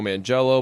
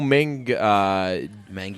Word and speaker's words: Manganiello: yeah by the way do you know that's not how you say his name we've been so we've said his name wrong a lot of times like on purpose we called him like Joe man jello ball it's Joe mingi Maggie you know yeah it's